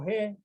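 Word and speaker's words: ἡ: Why do I pronounce he? It's because we have a rough breathing here. This is not a smooth breathing. It is a rough breathing. Okay? It's a rough breathing. Because it coils to the right.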